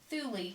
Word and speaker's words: Thule: strange ideas it was the Thule or sometimes pronounced the Thule Society it was founded in